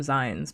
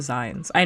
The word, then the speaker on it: zine: I always call them Z because I never realized that the term came from magazine. I never knew that it comes from magazine. So, I call them Z. I know how to say it. Zi, but I still say